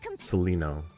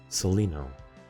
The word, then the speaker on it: Seleno: Let me hear the pronunciation one more time. What the Seleno's Seleno. So now we know their name. Seleno.